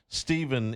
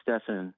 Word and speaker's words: Stephen: Stephen is in Spanish Town. Stephen, welcome into the show. It's Stefan. Oh, sorry. It's spelled the same.